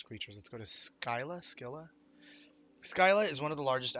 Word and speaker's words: Scylla: Scylla is how you pronounce it.